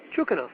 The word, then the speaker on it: Chukanov: me with a pronunciation of your last name chukanov chukov yeah chukanov okay and is the correct pronunciation of your first name okay very good